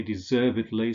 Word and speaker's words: deservedly: So if the main stress falls on the syllable that precedes the ed-ly ending, we say idly. Allegedly, markedly, confessedly, deservedly, supposedly, fixedly, advisedly.